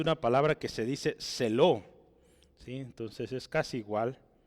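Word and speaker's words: ζῆλος: vea Hablamos de una palabra que se dice celo sí Entonces es casi igual se pronuncia sí se escribe así en griego Esta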